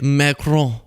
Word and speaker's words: Macron: Macron about the See, some of you guys think I'm being silly when I go Emmanuel Macron. But it's real. This is a French reporter. That's how you say it, Macron.